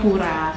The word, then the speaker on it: Pvra: ee apapun ya Jadi u-nya tuh kita ganti pakai v makanya kadang-kadang orang suka bingung kan Ini bacanya Pa pvra atau apa sebenarnya tuh dibacanya purang gitu sebenarnya pertama kita mikir